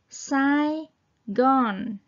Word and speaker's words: Saigon: từ saon S gon tiếng Anh Là Sai Gon Sai Gon Saigon Ừ xong thì